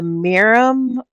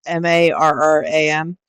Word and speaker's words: Marram: All right, so my item number 8 is the Meram, the Botanicals Meram grass. I think that's how you pronounce it. It's Marram.